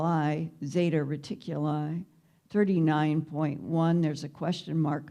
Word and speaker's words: Zeta Reticuli: that way either in the united states we spell it r-e-t-i-c-u-l-2-i's it's a binary star system zeta reticuli one and two how many are familiar with the betty and barney hill case from 1961.